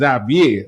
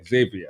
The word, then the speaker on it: Xavier: say in the Caribbean if she's a French word it's Zavier Americans say Xavier Xavier correct so we have here